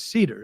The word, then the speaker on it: Seder: My last name is Seder. It's like literally the Seder. Wood. Right? Well, it's Wood. Seder. Like cedar wood. No. What? No. Seder. It's spelled like Seder.